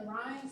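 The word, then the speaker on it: Rinne: So we can do the Weber and the Ryan. Some people pronounce it Renee test.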